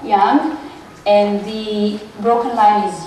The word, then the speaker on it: yang: those are yin and yang lines the continuous one is yang yang if we really want to pronounce it well young and the broken line